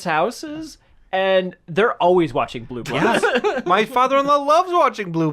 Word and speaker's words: Blue Bloods: Tommy Sell's been doing Blue Buds for like 20 years. Yeah. No one even knows what that show is. I even said the name wrong. Blue Bloods. Blue Bloods.